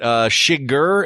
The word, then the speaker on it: Chigurh: I'll just say this, that Shiger, is that how you say his name? Anton Chigurh, yeah.